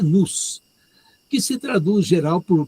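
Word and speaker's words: νοῦς: Em grego, mi, ômicron, y, sigma, e a pronúncia é nous, que se traduz geral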